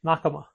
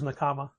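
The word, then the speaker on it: 仲間: The word is pronounced Nakama, Mm. but their store is Nakama.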